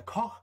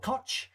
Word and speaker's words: Koch: Now, Koch is German, so I'm roughly trying to pronounce it as good as I can, Koch. But what I might do is call it Kotch. From now on, that's an incorrect pronunciation, but it's how it's spelled.